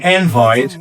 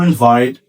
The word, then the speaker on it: invite: An invite, which is a noun, where the stress is on the first syllable, versus to invite, where the stress is on the second syllable.